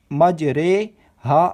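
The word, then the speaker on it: مجریها: کو امالہ کہتے ہیں۔ امالہ کی را کو اردو کے لفظ قطرے کی را کی طرح پڑھیں، یعنی ری کی نہیں بلکہ رے پڑھیں۔ امالہ کے ہجے اس طرح کریں: میم جیم زبر مج، را امالہ والی رے، مج رے، ہا الف زبر ہا، مج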